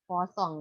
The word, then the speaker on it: Poisson: Ini tulisannya Poisson, tapi kalau bacanya orang Prancis ya, namanya Poisson ini orang ya, orang yang menemukan distribusi dan statistik ini kalau dalam bahasa Prancis ini kita sebut Poisson ya, tapi tulisannya Poisson.